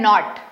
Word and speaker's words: नोट: है ये होता है नॉट। ठीक है? पर जैसे ही इसमें इ लगा तो ये बन गया नोट ओ नोट ये होता रब पर ई लग गया रोब चोक नहीं चोक।